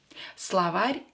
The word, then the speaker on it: словарь: Словарь is a dictionary. Словарь. Again, O, not stress, so pronounce it as a, sla. Sla, not slow. Don't say slow.